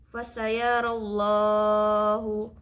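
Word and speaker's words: فَسَيَرَى اللّٰهُ: Nah, di sini lafaz Allah didahului oleh fathah, maka kita membacanya harus fasayarallahu, harus tebal, bukan fasayarallah.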